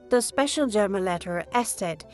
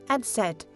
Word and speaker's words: Eszett: And finally, we learn Eszett is called Eszett or sharp S. This letter sounds like a double S and appears in many German words.